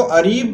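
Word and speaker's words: اریب: की बात करें तो इसका प्रोनाउंस अरीब होगा या फिर बहुत लोग आरिफ भी बोलते हैं और इसको लिखने का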